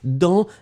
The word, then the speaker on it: dans: Ouais, remember who made that dans, D-A-N-S. Don't forget the S, you don't pronounce it, still it should be there.